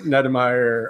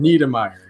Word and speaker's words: Niedermeyer: That is a Nedemeyer alone You take. can't even pronounce my last name correctly. Niedermeyer, excuse me.